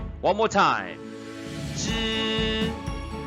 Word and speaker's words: 只: This special counter is pronounced 知 with first tone, a high-pitched flat tone. One more time. 知知知 is a counter for small animals like dogs and cats.